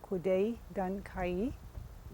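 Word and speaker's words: Kwäday Dän Kenji: of a long ago people's place which is pronounced kudai gun kae so welcome try to imagine actually living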